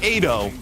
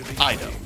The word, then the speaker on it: Ido: community has a request not not Ado Ido I was going to do the dueling pronunciations but the requ Ido is not giving out Aid it's I thought I was calling Ido honestly you were say you've